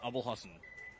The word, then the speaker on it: Abul Hassan: say your name right I say your name wrong right it's Abul Hassan Abul Hassan okay it's